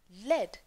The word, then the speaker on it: lead: अब देखिए, spelling तो L-E-A-D है, लेकिन मैंने इसे pronounce किया lead, क्योंकि यहाँ पर metal की बात हो रही है, verb की बात नहीं हो रही, ठीक है ना?